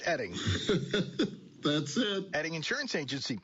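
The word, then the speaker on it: Oetting: O-E-T-T-I-N-G, pronounced Edding.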